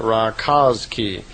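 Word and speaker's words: Rakoczi: I suppose you would pronounce that Rakoczy.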